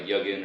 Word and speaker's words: Yugen: Yugen, you pronounced it right. We're off to a good start. Yeah, it's Yugen, and that was a shot in the.